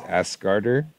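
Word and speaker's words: Ásgarðr: Asgard is Asgarder. These are just the correct Old Norse pronunciation.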